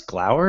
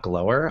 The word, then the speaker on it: glower: this day mispronounce like did you know it's glower and not glower i didn't know that until